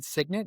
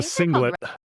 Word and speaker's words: singlet: You said signit. Is that what it was called? It's a singlet.